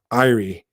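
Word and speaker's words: Éire: Irie, I can never pronounce that, guys. Irie, as in Erie. Ireland.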